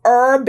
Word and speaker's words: herb: the dish and yes Herb is pronounced herb it's one of the few words in the English language that starts with an H but we omit that initial H sound so to enhance is